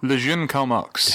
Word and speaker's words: Le Jeune Karl Marx: What's the French pronunciation? Le Jeune Karl. Le Jeune Karl Marx.